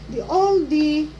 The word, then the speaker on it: Aldi: Kasi dati Aldi ako ng Aldi hindi nila maintindihan. Yun pala old oh oldie agag dito ayan ayan